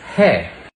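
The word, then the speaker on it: है: is in Hindi and Udu you just say he and if you want to make it plural you just pronounce it with a nasal vowel hang pay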